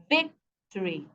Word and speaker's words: victory: unit the syllable the the stress here is on the first syllable Victory now if they want